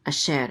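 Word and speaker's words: אֲשֶׁר: share share I share a shared and this is the troper accent mark so the accent is on the second syllable a share and a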